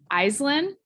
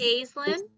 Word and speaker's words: Aislinn: Is it Iceland? Iceland? It's Aislinn. Aislinn.